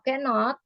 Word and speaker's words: cannot: atau kan sama ya Jadi kalau cannot itu cara membacanya itu bukan dipisah bukan dipisah menjadi dua suku kata tapi harus jadi satu suku kata cannot jadi tidak bisa